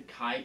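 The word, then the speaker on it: Xi: Now, let's dive in here to Chi Buddhist. Chi is spelled X-I, okay, and it's a double star system.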